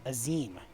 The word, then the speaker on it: Azim: The Azim Step, home to countless roaming tribes. That's how they pronounced it. Azim.